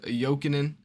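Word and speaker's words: Jokinen: top goal scorer is jokingen see I told you I'm getting better with the names is the J is silent the J's shot joking in that sounds way better than joking uh but I you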